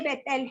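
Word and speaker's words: Béteille: अब प्रसिद्ध विचारक जो आंद्रे बेटेल हैं, बेटेली उनका करेक्ट प्रोनाउंसिएशन है, तो वे उपयोग और उपभोग पर विचार करते हैं, उपयोग और उपभोग पर विचार करते हैं।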